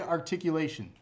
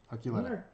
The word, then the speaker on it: Archuleta: So December 28th, David Articulation. Archuleta.